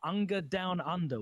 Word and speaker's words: Unger Down Under: recent online event called Unger Down Under, which is I'm really glad that you pronounced it, because they pronounced it as initials in the interview, and I was just like, what?